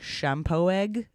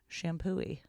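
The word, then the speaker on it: Champoeg: assumed it was like shampoo egg but okay uh it's and that's like off the freeway a little bit but that's it's the exit for it my brother informed me that it's pronounced shampooy shampooy Blow Me Down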